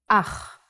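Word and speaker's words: אח: Ach is a brother in Hebrew. Ach. The pronunciation is important. Try to pronounce it more glottally from your throat.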